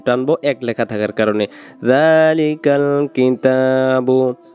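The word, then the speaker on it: ذٰلِكَ: আলিফ লাম মিম যালিকাল, যালিকাল, জাল অক্ষরটাকে এখানে এক আলিফ টানবো, জালের উপরে খাড়া যাওয়া থাকার কারণে। কিতাবু, তা অক্ষরটাকে এক আলিফ টানবো এক লেখা থাকার কারণে। যালিকাল কিতাবু, লা এক আলিফ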